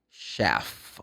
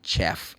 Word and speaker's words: chef: So, but you want to meet the chef of the kitchen. You don't meet the chef. It's chef. The CH in this case has the sound sh. The same as SH. Should.